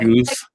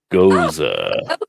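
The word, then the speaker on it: Gose: your video this is how you pronounce the salty beer go go not Goose not ghost Goa yeah that see you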